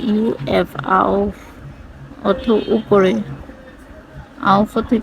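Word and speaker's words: auf: ইউংলাউড বি ই আ উবা কি এটা হচ্ছে ঝুলানো কোন কিছু উপরে ঝুলিয়ে রাখাকে ওটাকে উবা বলে ঝুলানো তারপরে হচ্ছে আউফ এ ইউ এফ আউফ অর্থ উপরে আউফ অর্থ কি উপরে এরপর হচ্ছে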